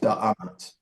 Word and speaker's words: Da'amat: DMT, and it's believed to be pronounced Da'amat.